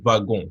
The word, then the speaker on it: wagon: Vous avez wagon. W, ça se prononce wagon.